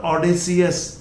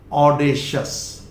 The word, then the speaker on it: audacious: ऐसे इट इज नॉट ऑडेसियस, this is ऑडेशियस, ऑडेशियस, ऑडेशियस।